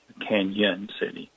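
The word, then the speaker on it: Cañon City: So officially it should have the tilde over the end to make that the Spanish Y sound, Canyon City.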